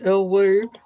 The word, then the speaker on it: Elay: My name is LA, pronounced like LA, like the city.